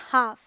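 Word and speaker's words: half: ए के बाद आया है ना, ये है काफ, इसे हम पढ़ेंगे हाफ। ये है बाम, पाम, यहाँ भी एल साइलेंट है, ये है सैमन, ये है, यहाँ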